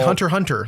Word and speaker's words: Hunter x Hunter: I mean, it's like Hunter Hunter, like the anime. It's Hunter X Hunter as it's written. But you never say the X.